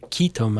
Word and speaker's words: ketum: Malaysia and Thailand or ketum actually as it's pronounced in Malaysia.